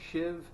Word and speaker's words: sheave: look in the dictionary what's spelled she even pronounced shiv versus a pulley the essentially they are described